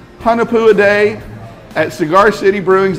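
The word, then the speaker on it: Hunahpu's: Hunapua.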